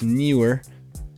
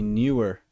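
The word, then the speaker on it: Neewer: I've got a guest mic over here, which is a newer, I don't know how to say it. I believe it's newer, N-E-E-W-E-R. That was a little bit of a tongue twister. N-E-E-W-E-R. N-E-E-W-E-R.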